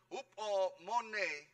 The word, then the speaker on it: hupomone: The Greek word that's pronounced as hupomone, which is spelled H-U-P-O-M-O-N-E.